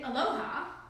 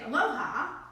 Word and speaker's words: Aloha: means hello but actually Aloha has three separate meanings depending on how you say it so if you say Aloha then okay and if you say Aloha then it's goodbye and it's yours hello